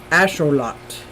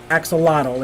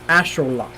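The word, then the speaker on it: axolotl: Museum which I'm very excited here we go pronounced Ash Ash ashol lot not axotal it's ashot and I listened to him like many many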